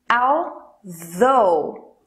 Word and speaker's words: although: a pesar em bora para pronunciar o th coloque a ponta da língua entre os dentes superiores e inferiores da frente só para o ar